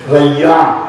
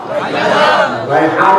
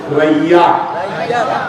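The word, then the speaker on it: ريان: রাইয়ান। কি নাম? রায়হান না, রায়হান, রাইয়ান। উচ্চারণ করুন, রাইয়ান।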